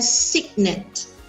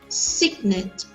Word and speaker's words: cygnet: But this is a baby swan and it is called a cygnet. Everyone say cygnet. Yes. And does it have the soft C sound?